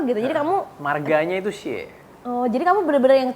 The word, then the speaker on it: Xie: Bacanya gimana sih Anthony? Anthony Xie. Xie.